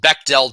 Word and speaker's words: Bechdel: finally by the way it's pronounced bechdel test backpack dell yeah german word uh if i were